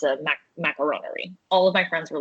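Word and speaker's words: macaronnerie: But my original name is going to be, I can't even pronounce it because it's just going to sound like the word macaroni. It's macaronerie, which is the French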